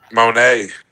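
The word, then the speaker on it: Moné: God damn, I should said her last name wrong. Monae.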